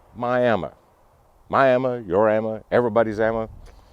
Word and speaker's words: Miami: you heard me right myam m i a m i around here folks like to pronounce the name myam myam your Amma everybody's